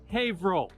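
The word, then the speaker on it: Haverhill: printing in hail Massachusetts it's spelled haill but pronounced havo everybody say hav roll You're Now official havit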